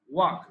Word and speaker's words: walk: even, অর্থাৎ কি এমনকি I can walk there, walk জন্য কি walk, not walk না, walk না, এই যে walk, লা উচ্চারণটা লা is omitted here, লা উচ্চারণটা হবে না, walk, আমি সেখানে হেঁটে যেতে পারি।